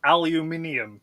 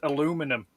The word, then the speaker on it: aluminium: Looking at that word, aluminium, yeah? How could you pronounce that as aluminum? Because it doesn't have the right letters for it to be pronounced aluminum.